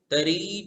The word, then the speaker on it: तारी: तारी तू. तारी तू. 'ri' लंबा है; तारी भाषा में 'री' का उच्चारण लंबा होता है, इसलिए हम इसे लंबा ही पढ़ेंगे: तारी।